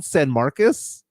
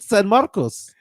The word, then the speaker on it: San Marcos: goes are you mean do you mean San Marcus no I was like no I mean San Marcos and she was like